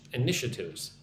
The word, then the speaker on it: initiatives: So, Colombian pe initiatives. I initiatives. Initiatives. Put the emphasis on the second syllable. Nish. Initiatives.